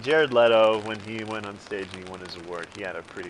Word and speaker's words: Leto: pronounced Leto, but I think a lot of people call him Leto.